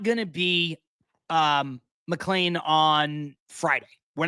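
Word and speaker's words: McLean: Mlean is supposed to pitch that day. Yes. Um you know I mean after that as well you know whether it is is Mlan whether it is I just found out by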